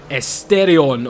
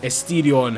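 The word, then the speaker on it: Asterion: is the Lamborghini Esterion or Esterion, however you want to pronounce it.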